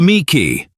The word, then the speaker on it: Miki: Number one, the Miki. The rare Mikey, pronounced mik, is a product of someone thinking there are a lot of great dog breeds from other countries.